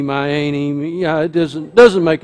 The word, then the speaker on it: Myane: origin of my name it is spelled m y a n e it's not the m a y it's not main it's my a um I've been called all kinds of things meani my Annie yeah it doesn't doesn't